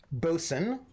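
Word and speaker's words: boatswain: Bosun is the stupidest spelling of a word pronounced bosun possible.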